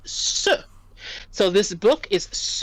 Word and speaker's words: ce: Livre, we would use a different word, C-E, which is pronounced se.